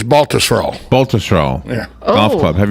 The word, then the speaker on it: Baltusrol: Tom, help me with the pronunciation here. Baltusrol? You're close. It's Baltusrol.